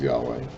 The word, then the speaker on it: Yahweh: lord so that's the yahweh idea that we pronounce it as yahweh the god of your fathers the god of